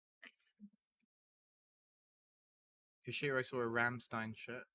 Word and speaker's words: Rammstein: cashier i saw a ramstein shirt rammstein is that right how you pronounce it properly in german ramstein you always have to say it like that because it's that's how they say isn't it uh so